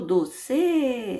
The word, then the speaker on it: doce: Doce, não é o C, eu não falo doce, eu não falo, eu falo doce. Então, a sílaba forte aqui é o do, doce, não é a última, a penúltima.